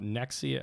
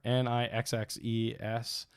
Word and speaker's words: Nixxes: They also got, let me pull it up, Nexia. I want to say it right. Nixes software, Nixxes software.